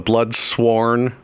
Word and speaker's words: Bloodsworn: The Bloodsworn. It even rhymes with Bloodborne, okay?